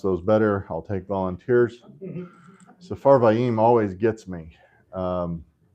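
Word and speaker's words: Sepharvaim: Safarvaim always gets me. Um, it looks like there should be an additional syllable there, but that last def thong should be just one vowel.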